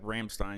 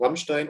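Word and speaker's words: Rammstein: a lot to to ramstein or how do you pronounce it ramstein i didn't say ramstein because i'm because i'm real ramstein okay in german it's ramstein but ramstein sounds also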